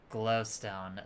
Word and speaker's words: Glowstone: It's pronounced Glowston. I will have you respect the good family name of Glowstone.